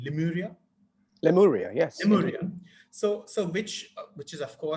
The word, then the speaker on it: Lemuria: I don't know how to pronounce the name, Lemuria. Lemuria, yes.